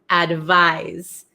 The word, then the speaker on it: advise: sound advice and then number eight we have advise Z advise okay so this is like more of a z sound oh okay Erica is